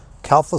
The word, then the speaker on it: Calpha: by the name of Calas solar I think that's pronounced correctly c a l p ha calfa solar sent me some 200